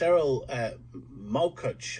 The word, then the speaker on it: Erol Morkoc: Erol Morkoc. Have I pronounced that right, Erol?